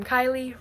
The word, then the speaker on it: Kylie: I'm Kylie, rhymes with smiley.